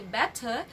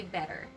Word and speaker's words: better: job next word better we don't say better but we say better example it is better